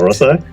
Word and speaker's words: SaraSai: Hi, today on Founders Go Naked, we have a very, very special guest, which is SaraSai. Correct me if I'm pronouncing that That's incorrectly, perfect. SaraSai.